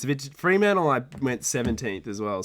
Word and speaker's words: Fremantle: It's a bit Fremantle.